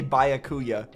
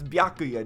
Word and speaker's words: Byakuya: I watch of it they always say bayakuya I don't know why they keep saying bayakuya it's biakuya it's biakuya just say it right it's